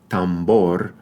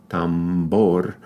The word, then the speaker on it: tambor: so as an example look at the two B sounds in these words in Spanish right one in the word Tambor is a bilabial Tambor um and that's because it comes after a nasal consonant but